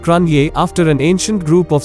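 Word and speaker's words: Cruithne: other the Periodic planetoid is named Cru tane pronounced Cronje after an ancient group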